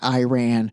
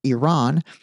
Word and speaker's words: Iran: First of all, anybody that continues to pronounce it Iran, especially if they are in the government where it's not pronounced Iran, it's pronounced Iran, and anyone in the